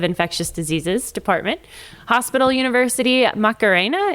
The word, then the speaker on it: Macarena: diseases department, Hospital University Macarena. Do you say it like the dance?